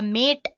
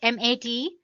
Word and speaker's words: MATE: boots you into the mate desktop environment let me pronounce it m80 you can call it whatever you want mate or mate desktop environment so as you